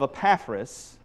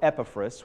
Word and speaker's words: Epaphras: by the name of Epaphras, or Epaphras, whichever way you want to pronounce it, doesn't bother me, tomato, tomato, Epaphras was saved in Ephesus.